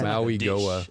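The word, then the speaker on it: Mauigoa: I think it's Goa at the end. Yeah. Maui Goa. I'm going to eat the Maui Goa.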